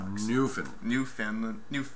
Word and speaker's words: Newfoundland: area just given the total Finland I can't pronounce that right Newfoundland new Finland new not new Finland Newfoundland New Kingdom hey you know alright well